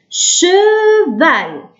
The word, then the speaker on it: cheval: CH ننطقه كالشين في العربية ش. لكن كي نحطولو E ش. كي نحطولو A ش. كي نحطولو إي شي. إذا cheval. هل نسمع E؟ نعم. ال E تنطقوه من الباطن. من الباطن ما نقولوش نقولوش في الفم. ما نحبسوش من الفم لازم تخرجوه من داخل.